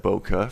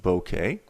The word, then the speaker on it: bokeh: right here in exposure i said boca for probably 10 years before someone corrected me that's actually pronounced bokeh bokeh is the visual